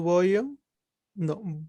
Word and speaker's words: vogliono: Io voglio, Ujú, tu voglio, no, vuoi, ujú. lui, lei vuole, noi vogliamo, voi volete, loro vogliono. Vogliono. Vogliono. Ujú. Con Ok. el acento tónico en la primera sílaba.